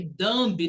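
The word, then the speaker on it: dumb: ele não sabe pronunciar que dambe não pronuncia o BRT dão dão não pronuncio B significa burro você é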